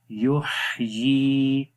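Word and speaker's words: يُحْيِي: یحیی، یا کے نیچے کھڑی زیر ہے، اس کو ایک سیکنڈ لمبا کریں گے.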